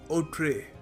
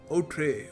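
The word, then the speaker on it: outré: देखिए इसको प्रोनाउंस करते हैं। ओठ्रे। ओठ्रे। फ्रेंच वर्ड है।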